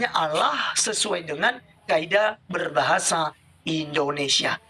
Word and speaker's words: Allah: Indonesia dengan benar maka tulisannya a l l a h bacanya Allah bukan ukjukan Aduh Oke